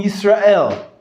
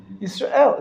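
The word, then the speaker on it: ישראל: Like in Yisrael, the end of the la underneath the lamed, there's no vowel. Yisrael. It's not Yisrael.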